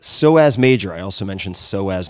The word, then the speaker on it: psoas: SOAS major. I also mentioned SOAS major. That's spelled P-S-O-A-S major.